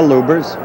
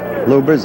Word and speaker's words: Lubbers: Indonesia Muhammad Ali against Rudy lovers or lubers it's pronounced both ways lubers is probably more technically correct anyway it's the way Rudy wants it said see how luers